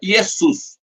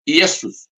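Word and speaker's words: Ἰησοῦς: escrito marcado de vermelho grego antigo escreve mas se pronuncia iesus iesus que é iesus lá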